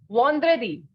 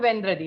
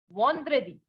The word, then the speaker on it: vendredi: Not Vendredi, no. Vendredi will be the pronunciation in English, but this is not English, right? This is French. And in French, we know that the sound of en is no. So we have Friday as Vendredi.